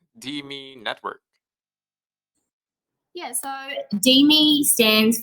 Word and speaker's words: DeMe: It's like DME, Deme, Demi. Demi is, yeah, it's the best version, I'd say.